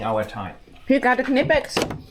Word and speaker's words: Knipex: time you got a knipex it's called knipex you pronounce the k not nipex like the Americans would say I'm more German than